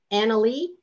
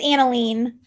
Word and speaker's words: Annalene: Annalee, did I pronounce that correct? It's Annalene.